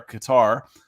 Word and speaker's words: Qatar: have it in uh Qatar uh as they pronounce it when you're over there Qatar um because FIFA is